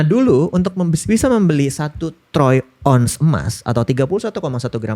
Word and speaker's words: Troyes: Troy trow trow ya Troyes atau T r O Y E S. Nah, bacanya Troya sebenarnya Troya sih TR. Bacanya Troy.